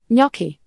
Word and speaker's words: gnocchi: Gnocchi, pronounced gnocchi, are soft dumplings, most often made with potatoes, flour and egg.